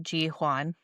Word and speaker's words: Jihyun: But it's like Ji-hwan. It's like you it's like a little H in there somewhere.